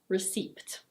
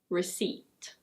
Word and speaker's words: receipt: The P is silent, so it's not "ri-seept". It's: receipt. Receipt. This one is...